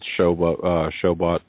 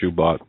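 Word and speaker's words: Shoebat: If you want more information, you can go to Walid Shoibat, or some pronounce it Showbot or Shubat.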